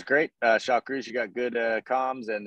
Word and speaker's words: Shakruz: Yes, Shakruz.